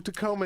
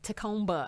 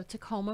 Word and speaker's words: Tacomba: let's find out who tacoma is tacomba i hate when people say yeah yeah the bee is silent like comb you comb your hair with you don't say